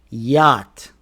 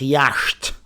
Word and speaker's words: yacht: Yacht. Not yashed.